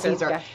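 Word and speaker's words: Siser: caer but you pronounce Cesar so yeah so there you go not as in like Caesar salad yeah there is a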